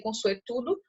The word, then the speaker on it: consuetudo: A palavra consuetudinário, ela advém do termozinho chamado consuetudo, tá aqui, ó, termo em latim, que se pronuncia consuetudo, e que significa tudo que se estabelece por força do hábito ou do uso.